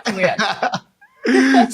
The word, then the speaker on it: Nguyen: And I am joined by Nguyen. Am I pronouncing that correctly? Yes, that's definitely perfect. Yeah, Nguyen.